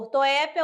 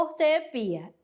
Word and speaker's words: ortoépia: Ela pode acontecer também, pode ser pronunciada por ortoépia ou ortoepia. Ela é aceita, tá bom?